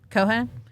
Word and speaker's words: Cohan: Cohan.